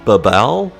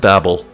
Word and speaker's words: Babel: Okay, maybe that's pronounced Babal? Babal? But I like Babel.